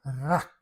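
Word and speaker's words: רק: Aqui para dizer que o poço estava vazio, tem a palavra reik e tem uma palavra que é quase igual a pronúncia rac, que significa só. Ou seja, reik. E a palavra reik aqui para significar vazio, ela está escrita igual rac, só que a pronúncia é reik, vazio ou só.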